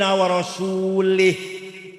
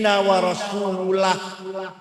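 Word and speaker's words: ورسوله: Ada orang baca Quran salah. Innallaha bari'um minal musyrikin wa rasulih. Allah tidak melindungi orang musyrik dan tidak melindungi rasulnya. Salah. Yang benar bacanya innallaha bari'um minal musyrikin wa rasulah. Allah tidak melindungi orang musyrik dan Rasulullah pun tidak melindungi orang musyrik. Warasulah bacanya. Jangan warasulih.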